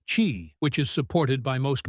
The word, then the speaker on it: Qi: The most common standard is Qi, pronounced Qi, which is supported by most modern smartphones, wireless earbuds, and even electric toothbrushes.